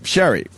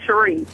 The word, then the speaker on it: Cherisse: Sherry. Hi. Hi. Oh, it's actually Cherie.